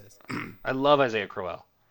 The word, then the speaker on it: Crowell: very true uh the running back was Isaiah Cromwell or Crowell Cowell I don't know how to say this I love Isaiah crell crell thank you that was always a fantasy it